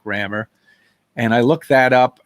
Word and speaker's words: Rammur: i figured no problem it still can be pronounced rammer and because it's kind